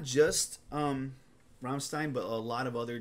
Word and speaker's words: Rammstein: Frankenstein iin Ramstein yeah I kept calling romstein in my first couple videos because that's how Americans say it romstein but it's romstein Ramstein yeah yeah so but